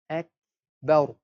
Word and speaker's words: akbar: So how we say it? Ak, akbar, akbar. The sort of a ha sound at the end of the kaf.